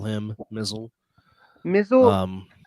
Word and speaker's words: Mizzle: Mizzle. Um, Mizle rhymes with Hizzle.